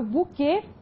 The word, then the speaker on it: buquê: Então, verifique, quando eu falo buquê, a sílaba tônica da palavra é a última, oxítona. E é uma oxítona que tem a pronúncia fechada.